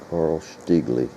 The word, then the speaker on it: Carl Stiegele: i'm starting a new shotgun it's a uh carl stigley a friend of mine who was spent a lot of time in germany said that's how you pronounce that carl stigley he was from munich or as they pronounce